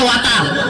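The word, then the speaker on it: water: ওয়াটার না, এটা ওয়াটার। ওয়াটার। জি স্যার। জিব্বার আগে সামনের 2 দাঁতের সাথে লাগবে।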